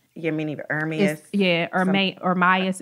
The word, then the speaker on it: Ermias: Like he has said, I don't know how to pronounce his first name. Yeah, meaning Ermias. Ermias.